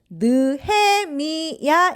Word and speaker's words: 느헤미야: 짜잔 오늘의 주인공은 바로바로 느헤미야의 요 조금 발음이 어렵죠 한번 따라해 볼까요 느헤미야 맞아요 그런데 지금 내